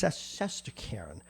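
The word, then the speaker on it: Shesterkin: And I know I have to pronounce this. It's Saskarin will be in the nets tonight.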